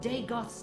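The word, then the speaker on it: Dagoth: Lord Deegoth's temptation. It was Deegoth the whole time. The gods. I was saying it wrong for 31 hours.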